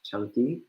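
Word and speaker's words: Caṅkī: a coincidence that it sounds like the English word chunky that actually is how the Pali word is pronounced CA n ki is pronounced chunky it does not mean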